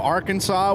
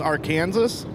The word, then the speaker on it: Arkansas: For the longest time, Arkansas was pronounced Arkansas. I don't think it's ever been pronounced Arkansas, but that's how it should be if you look at the spelling of it.